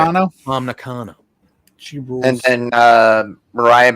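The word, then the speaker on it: Tam Nakano: Yeah, Momo versus Willow and it's pronounced Tom Nakano. Okay. Tom Nakano.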